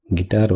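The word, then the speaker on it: Gitarre: இதை வந்து ஜெர்மனில் எப்படி ப்ரொனவுன்ஸ் பண்ணுறதுன்னு சொல்கிறேன். தி காய்கர், வயலின் வந்து டி காய்கர், கிட்டார் வந்து டி கிட்டார், கோஸ்ட் வந்து டி கைஸ்ட்.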